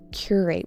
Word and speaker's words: curate: Curate with an emphasis on the first syllable.